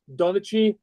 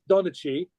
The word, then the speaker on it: Donnchadh: But so I went when I changed from to, son of Kenneth, Donachie, which is spelled Donnchadh. That's Donachie, which is, Mac, which is obviously the standard son of, and Cainick, Cainneach, which means Kenneth.